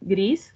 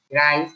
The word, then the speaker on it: Grice: Profe, yo particularmente sobre ese tema no, pero me quedó, tengo un problema con las máximas de Gris. Bueno, ay, perdón, no sé si Sí, se pronuncia. Grice, Grice.